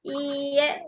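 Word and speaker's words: iie: Kemudian kalau tidak iye ini. I e ya. Tulisannya e dibacanya iye.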